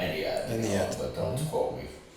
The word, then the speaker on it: Ennead: Order of Eniad, I think it's pronounced Eniad.